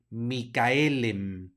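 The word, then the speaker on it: Michaël: latín que ya sabemos la c h no es un H suena como K la a tiene diéresis arriba por lo tanto no hace diptongo con la e de manera que se van a pronunciar separadas la a y la e Micaela micael luego lo mismo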